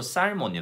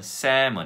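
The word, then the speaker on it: salmon: 전혀 알아들을 수 없습니다 정확한 발음은 3 먼 입니다 샘은 ism 은 풀 띄는 이렇게 나는 저녁에 어 연어를 먹었어 라는 의미죠 그래서 l 은 없다고 생각하시면 됩니다 자 이렇게 모금이 있는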